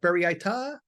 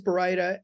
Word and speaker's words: baryta: They got Baryita, Byrata, Barista, Bartista, and then some people just give up and call it burrito.